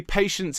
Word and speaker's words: patience: Okay, patience in this case has 3 syllables.